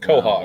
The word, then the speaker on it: Quahog: It's pronounced Quahog. Well, see, look at that. Quahog.